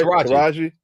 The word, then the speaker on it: Taraji: Taraji. Did I say it right? Taraji.